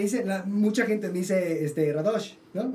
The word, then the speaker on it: Radosh: Y 2, me acabo de enterar que se pronuncia Radosh y no Radosh. Siempre sí, todo el mundo dice Radosh. Sí. Pero es un acento invisible en la...